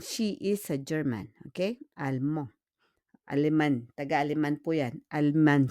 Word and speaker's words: allemand: On prononce pas le D, hein? We don't pronounce le D really, hein?